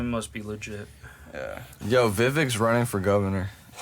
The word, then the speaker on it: Vivek: Yo, Vivek's running for governor. Vivek. Right. That's how his name is pronounced.